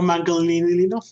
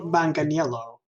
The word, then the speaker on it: Manganiello: Chris practice no no no no Joe Joe Maddalena yeah yeah because I know it's a running joke that we constantly mispronounce it but there is an excellent job Joe Manganiello yeah joe yeah joe manganiello apparently he had